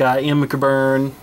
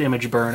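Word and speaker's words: ImgBurn: with free programs like IM bur I think that's pronounced image burn actually and things like that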